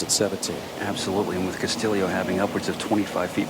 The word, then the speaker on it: Castillo: You know, indeed, Ricky's last name is pronounced Castillo, not Castillo. That's due to his Filipino heritage.